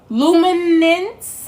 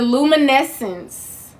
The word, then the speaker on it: luminescence: wonderful Planet cherish yourself in the luminance hold on L Lum in the luminescence within you okay the word is spelled l u m i n e s c n c e in case you want to look it up okay cherish yourself in